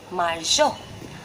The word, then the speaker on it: marzo: Z is there. Okay, so the pronunciation will be Z, marzo.